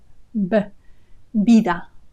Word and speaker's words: vida: So in Spanish, the B and the V have an identical sound. They both sound B, vida, vida, vida eterna.